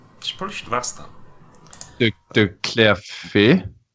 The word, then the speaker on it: de Clerfayt: Jean-Baptiste how do you actually pronounce his second name? Probably should have asked that. De Clerfayt. De Clerfayt.